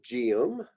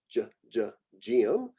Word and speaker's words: Geum: GE and GI, these get more of what would be like a J sound. So geum, geum, gilia, although I think